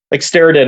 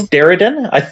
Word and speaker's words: Steredenn: Steriden? I'm not sure if I'm pronouncing it right. Yeah, it's Steredenn.